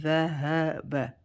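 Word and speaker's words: ذَهَبَ: Dhahaba, the ha is from the bottom part of the throat, so make it deep from bottom part of the throat. If you say it right, you feel it at your chest.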